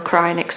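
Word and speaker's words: Kreinik: I generally would use Krynick, depending on how you want to pronounce it. I know Krynick's a proper way of saying it.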